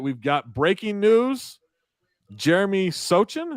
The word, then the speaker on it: Sochan: Jeremy Sochan. Is it Sochan or Sachin? Sohan. Sohan. Like that Zohan. C is silent.